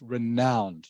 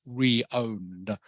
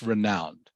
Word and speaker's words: renowned: by the way as you can see is pronounced renowned not re-owned it is pronounced renowned Detroit is renowned or famous for the production